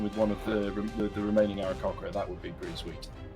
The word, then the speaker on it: Aarakocra: Takes them over their max into the 2 Aarakocra. Damn it! The 2 birdmen that we like. Cur and beak. Yeah. Okay. The secret is that the middle syllable is is cock. Aarakocra.